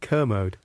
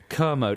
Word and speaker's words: Kermode: wrong a how do you pronounce it kermode kermode I'm famous for pronouncing